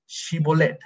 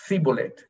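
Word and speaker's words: shibboleth: to say the word shibolet the word shibolet now the ephromites who had no sound in the language pronounce the word with an s sibolette and whether by unmatched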